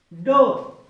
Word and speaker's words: door: अगर डोर हम पढ़ते हैं उस उच्चारण को, तो उच्चारण किस पे जा रहा है, औ पे जा रहा है।